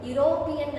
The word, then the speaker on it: European: ಉಚ್ಚಾರವನ್ನ ಒಂದು ಸತಿ ನೀವು ಯುರೋಪಿಯನ್ ಅನ್ನೋದನ್ನ ನೀವು ಕನ್ನಡದಲ್ಲಿ ಹೇಗೆ ಬರೀತೀರಿ ಅನ್ನೋದನ್ನ ನೆನಪಿಸಿಕೊಳ್ಳಿ. ಯುರೋಪಿಯನ್, ಎರಡವ ಯ, ಓಕೆ? ಸೊ ಯ, ಇಟ್ ಈಸ್ ನಾಟ್ a Oval sound, but ಇಟ್ ಈಸ್ a consonant sound.